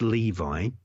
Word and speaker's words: Lowe: Rabbi Levi, or Rabbi Lower. It's spelled L-O-W-E, but it's pronounced Levi.